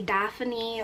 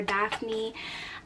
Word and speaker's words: Daphne: A lot of people mispronounce it and say Daphany or Daphne and I've been getting that my whole life. So no, it's just the two syllables.